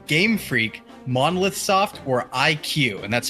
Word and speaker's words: iQue: Is it Retro Studios, Game Freak, Monolith Soft, or IQ? And that's spelled IQUE.